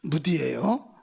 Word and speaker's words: 무디: 근데 이 무디가 발음 잘해야 돼요. 무디예요. 발음 잘못하면 큰일 나요.